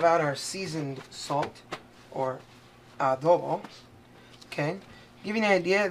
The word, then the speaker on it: adobo: My favorite, what I grew up on, adobo, pronounced adobo, but spelled adobo. You'll hear people say adobo. That's actually not the way you're supposed to pronounce it. Just so you know, it's adobo. Okay, anybody who speaks Spanish or pretends to speak Spanish like me would know that.